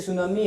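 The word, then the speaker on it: tsunami: ठीक है ना, जैसे सुनामी है, तूफान आते हैं ना, सुनामी सुना होगा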